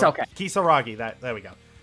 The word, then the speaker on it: Kisaragi: this detail, because the alumni mode and the Kisiyagi... I forget how to pronounce it sometimes. It's okay. Kisaragi, there we go.